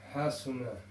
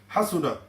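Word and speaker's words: حَسُنَ: So the way to pronounce it is quick. Fahima. Fahima. That's correct. Next one. Hasuna. Again, it's got to be quick. Hasuna.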